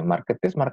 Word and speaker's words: Marketeers: Marketeers bener bacanya. Marketers sih bacanya. Marketeers sih. Ya, marketeers ya.